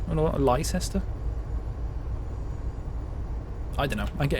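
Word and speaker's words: Leicester: good guess they should I love it when Americans pronounce um leester always get a good kick out of that I know it's a bit daff to be like H you pronounced this thing wrong that is actually really intuitively um not intuitively at all actually it's the opposite of intuitively it's really unintuitive um well they'll say like Lester or Lester I don't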